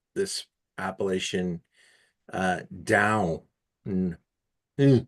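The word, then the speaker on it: Dão: I want to point out too how you're pronouncing this appellation down. Mm, mm. It's like going down the stairs or a Yeah.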